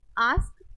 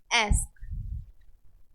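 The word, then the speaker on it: ask: लेकिन अभी यहां पर ए के लिए हम आ और ए आ और ए दोनों प्रोनाउन करते हैं इसको हम क्या बोल सकते हैं आस्क जैसे हम बोलते हैं और एस्क जो आ है य हमारा ब्रिटिश इंग्लिश में ए जो है अमेरिकन इंग्लिश में क्लियर तो हम ब्रिटिश इंग्लिश हमारा एस यूज करते तो हम क्या बोलते इसको आस्क अन में जब हम इसको बोलेंगे तो हम करेंगे एस दोनों ठीक है ठीक है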